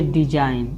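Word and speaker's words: design: अगर यन से पहले आया जी हमेशा साइलेंट होता है। जैसे देखिए डिजाइन, इसको क्या बोलना है, डिजाइन, यानी यन से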